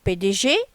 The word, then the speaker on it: PDG: Alors PDG, les lettres sont prononcées et épelées séparément. P, D et G.